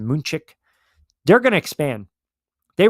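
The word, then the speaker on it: München: They are London, Madrid, um you know, um um Dublin, uh Mexico City, uh you know, Munich or they properly pronounce it, Moonchick.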